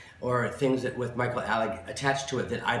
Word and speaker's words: Alig: But they pronounce it Alig. Yeah. Well, a lot of people called you Alig. I know, but it's not right. And didn't Lahoma call you Alig? Yes. Didn't Larry T call you Alig? Yeah. Yep. Michael Alig. Yep. Rudolph was the only one who pronounced it actually properly, because it also is an Alig. It's Alig. That's how. Right. Well, that's the German pronunciation.